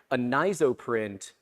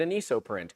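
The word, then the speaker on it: Anisoprint: I was pronouncing it anoprint. It's not. It's a nizo print for anisotropic.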